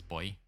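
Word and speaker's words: buoy: in the US and it's Bowie over there, but in Australia it's boy.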